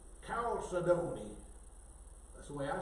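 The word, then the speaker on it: chalcedony: And I put the accent on the d o n y, calcedony. And they said you put it on the second syllable. Calcedony.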